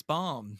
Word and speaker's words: bomb: a b in there it's not boom it's bomb it's bomb yeah this is now